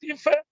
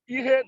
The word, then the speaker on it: Ihe: But the other one to say, Ife Nkete, Ife, that Ife is not, it's just an Olumba. It's not a general Igbo. A general Igbo should be Ihe, not Ife.